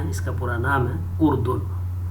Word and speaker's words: اردن: اردن اس کا تلفظ ہے.